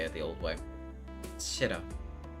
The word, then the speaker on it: Shiro: Shiro. Is this pronunciation correct? Correct, Shiro.